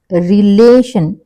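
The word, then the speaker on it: relation: stress ఇచ్చి పలుకుతున్నాం రిలేషన్ రిలేషన్ ల అన్న దాని మీద మనం స్ట్రెస్ ఇస్తున్నాం ఓకే ఏమవుతుంది ఇది ఇక్కడ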